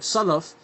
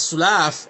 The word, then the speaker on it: salaf: And you're saying this word salaf as sulaaf, and that means alcohol, khamar.